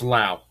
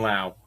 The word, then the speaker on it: Lowe: I think it's Lau, even though it's spelled low. I think it's Brandon Lau.